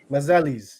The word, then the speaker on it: Masellis: Helena Masellis. Am I pronouncing that correctly? Masellis. Masellis, yes.